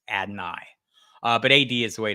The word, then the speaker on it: Adonai: So it's Adonai is how Adonai says it, but AD works better. It's Adonai is how I've heard him say it.